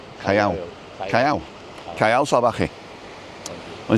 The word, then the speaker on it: salvaje: Salvaje. It's a V is a B. So Callao, so it's C-A, Ca, and then double L is a Y, and then R-O, Callao. Callao. Callao. Callao Salvaje.